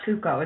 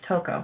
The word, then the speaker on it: Toko: say coco toco yeah it's not cuco it's toko so it's toko who